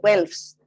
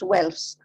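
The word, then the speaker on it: Guelphs: Now, the Pope's supporters were called the Welfs. It is spelled with a G, but it is pronounced Welfs.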